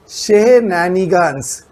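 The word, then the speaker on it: shenanigans: Pronounce करना भी थोड़ा मुश्किल है, बट I pronounce it फॉर यू। शेहनानिगन्स।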